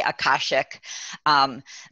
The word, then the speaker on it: Akashic: So I say Akashic. People pronounce it a little bit differently depending on where you're from.